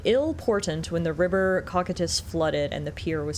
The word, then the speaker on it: Cocytus: I need to remember that that's the pronunciation. Cocytus. Cocytus. River Cocytus.